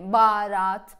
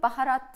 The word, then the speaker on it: baharat: Ben araştırdım ve H harfi söyleniyormuş. Fakat mesela Mehmet, baharat böyle diyorsunuz. Ben mesela konuşurken baharat diyorum. Ya da Mehmet diye konuşuyorum. Merhaba diyorum. Merhabalar. Merhaba. H. Yani H bile aslında okunuyormuş ve okumuyorsunuz. Neden?